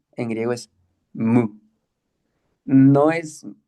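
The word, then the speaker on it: μῦ: Aquí lo transliteran como mi, pero lo correcto, yo digo que lo más cerquita es decir mu, pero la U es como la U francesa, o sea, no es un sonido que nosotros tengamos en el español.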